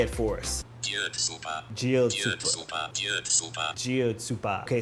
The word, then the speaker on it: Kjötsúpa: Kjötsúpa. Kjötsúpa. Okay, so the K and J obviously sounds like a D.